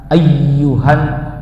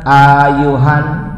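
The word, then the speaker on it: أيها: Bukan asala tapi assalamu alayka ayyuhan. Jangan ayuhan, bukan begitu.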